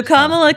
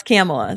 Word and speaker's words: Kamala: and Indians especially after mispronouncing Kamala okay so kamla can't pronounce camela so I that's just not an argument yes